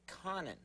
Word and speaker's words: Conan: same name as mine but he calls it Conan it's this guy right here his name is